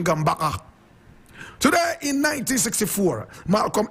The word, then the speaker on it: Gambaga: Correct pronunciation, Gambaga.